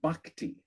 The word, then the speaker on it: bhakti: And you mentioned um again, a slight correction on pronunciation. It's bhakti.